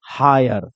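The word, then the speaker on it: hire: ही नहीं है इसलिए हम इसको क्या पढ़ेंगे हायर क्या पढ़ेंगे हायर ध्यान से सुन लेना क्या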